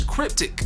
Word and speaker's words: cryptic: The second word is a adjective and it's cryptic. And crypt is the stressed syllable, which means mysterious in meaning, puzzling, or ambiguous.